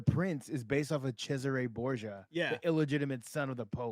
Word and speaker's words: Cesare: There's Cesare, it was Caesar.